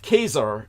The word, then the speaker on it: Caesar: is the West the anglicization of the correct pronunciation of keser is that where we get the term Kaiser